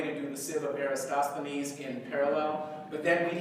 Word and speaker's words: Eratosthenes: the Civil arrest needs or Aristophanes how are pronouncing roskilly Eratosthenes okay right why don't you consider Eratosthenes because